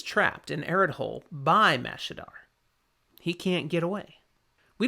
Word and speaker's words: Mashadar: And all that was left was something called Mashadar. That's not how it's pronounced. I said it wrong. I didn't even I mean look at the spelling. Yep. Mashadar. That's what I meant.